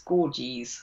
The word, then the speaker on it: Gorges: her and they said if you pronounce it like the river ganges it's gorgis so there you go um